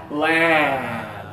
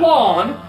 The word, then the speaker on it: land: Land, okay? Yeah, not lawn. My plane landed at 4 o'clock. That's like a British way to do it. That's the stupid way. I'm just kidding. British pronunciation is just different, not stupid. Well, kind of. Okay, so put the two fingers here. Ah, like after and Saturday.